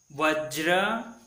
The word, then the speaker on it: वज्र: तो इसे ज्र ज्र जो कैसे लिखते हैं, आधा ज और पूरा र मिलकर ज्र बनता है, जो नीचे लाल जो चिन्ह दिखाया है वह पदेन है। तो इस प्रकार आपको उच्चारण करना है, सम्राट वज्र।